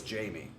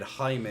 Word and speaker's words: Jamie: try and remember because my actual name is jamie and that's how i always pronounce my name because it's jamie however of course if you're spanish or latino then jaime is the is the more accepted way so i'll try my